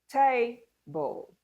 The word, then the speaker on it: table: Table, table. Which part of that word is stressed? Or which syllable in the word table is stressed? Can you guess? The first syllable, table.